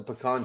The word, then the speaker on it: pecan: crew clue that's a pecan tree it's got to be texas and and notice that i pronounced it correctly when i said pecan pecan or pepperoni it's not a pea it's not a pecan